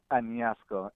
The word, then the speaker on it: Añasco: Knowing his family in how do you pronounce that? Añasco.